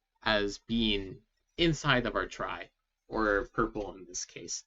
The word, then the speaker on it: trie: couple of slides so tries are pronounced like try even though they're spelled t-r-i-e is the data structure